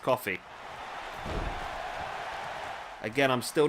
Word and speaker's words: Coffey: I've always called him Kofi, but I believe from some of the comments I've had, they're actually pronounced Coffey.